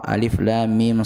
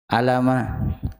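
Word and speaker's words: الم: Dan itu dibacanya per huruf. Ya. Per per huruf, bukan dibaca toh. Kan toha bukan dibaca toh, atau alif lam mim dibaca alama, yasin dibaca yas.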